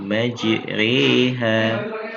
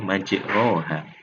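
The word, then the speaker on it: مَجْرٰىهَا: Kalau tidak dibaca imalah, maka kita akan membacanya majroha. Akan tetapi di situ mempunyai kaidah khusus ya, atau gharib, maka di situ dibaca dengan imalah atau condong ya, atau miring. Nah, cara membaca miringnya yaitu tadi sudah kita jelaskan adalah ya. Jadi majriha. Ya, cara membacanya adalah dengan memiringkan sekitar 2/3 antara fathah dan kasrah.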